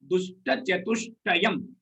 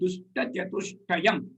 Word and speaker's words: Dushta Chatushtayam: You break them into pieces and pronounce them also.